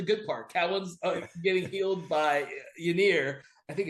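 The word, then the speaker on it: Ynyr: parts getting healed by Yianir I think it's Yianir yeah you're right it's inir is how it's pronounced apparently uh and then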